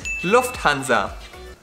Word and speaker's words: Lufthansa: The correct way to say it is Lufthansa. It sounded the same. No, the other one is Lufthansa and this one is Lufthansa. So the U is shorter.